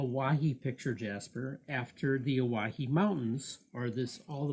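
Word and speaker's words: Owyhee: but they misunderstood and the name owahi comes from the mispronunciation of the name hawaii it's it's uh o-w-y-h-e-e owahi the jaspers from the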